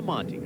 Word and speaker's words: Monte: know a lot of people tend to call him Monty but he told us he said no my name is l Monte I want I got a special name and I want it pronounced that way so there you go